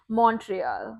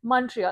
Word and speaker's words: Montreal: I mean, even Montreal, the Yeah, pronunciation I would be like Montreal, but it's not yeah, Montreal, it's Montreal.